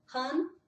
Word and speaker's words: han: Han hun, que significa ele, han, ela, hun. Lembra que o U, o U no norueguês é U, não é u.